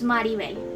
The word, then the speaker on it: Mirabel: Mirabel is the Mexican variation of a name. Here in Colombia we use Maribel, which has the first two vowels inverted. So for a long time, I actually struggled pronouncing Mirabel's name correctly because I always averaged out to the more common pronunciation.